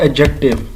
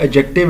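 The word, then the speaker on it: adjective: कर सकता है और एडजेक्ट िव अगेन मैं आपको बता रहा हूं। एडजेक्टिव है इसमें डी साइलेंट है।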